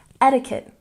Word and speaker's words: etiquette: debris and number six etiquette stress the first syllable etiquette etiquette etiquette and number seven February